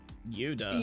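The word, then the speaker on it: ユダ: Judas and went, "No, that's just the name Yuda." Yeah. Like that's not Judas. Like I know that's how it be pronounced in Japanese, but there's part of me that was like, "No."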